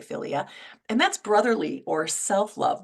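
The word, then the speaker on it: philia: of the definition and filia filia is the first one that's p h i l i a filia and that's brotherly or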